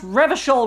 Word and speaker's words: Revachol: He pronounces Revacol with a hard K, unlike other people. You said Revacol? I like to pronounce it the hard way. The old way. The Vespertine way.